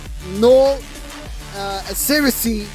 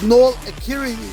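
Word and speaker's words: Noel Acciari: Here he was about 96 hours after he and center Noel Akiri, ladies and gentlemen, I'm sorry, that's Noel Akiri, sorry for the mispronunciation there, had been traded to the Toronto Maple Leafs by the St.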